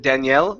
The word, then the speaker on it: Daniel: Instead of Danielle, Danielle is a female name. Daniel, with the stress at the beginning, is a male name.